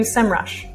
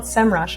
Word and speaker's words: Semrush: insights moving on to semrush and it's definitely called semrush okay it's not sem rush and if you're like me you definitely have to retrain your brain to say it correctly so i'll do my